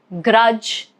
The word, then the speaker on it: grudge: And for letter G, I've got examples of pledge, grudge. Okay, both these words letter G is silent.